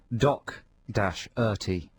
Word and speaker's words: Doherty: Because it says here on our notes with our playlist, pronounced Doc-Erty.